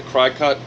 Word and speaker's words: Cricut: that I got the cry cut I don't call it the Cricut because it's spelled cry cut I got the Cricut